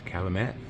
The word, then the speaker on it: Calumet: I love when they go, doesn't know to pronounce the T, then pronounces the T. It's Calumet.